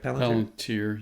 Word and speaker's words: Palantir: Palantir, yes.